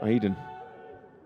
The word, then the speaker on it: Aidan: pronounce it properly yeah i thought it was eating like the cheese but it's not it's aidan and if we can